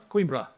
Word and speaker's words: Coimbra: He is also the Associate Professor at the Geosciences Centre of Coimbra University, is it? Coimbra.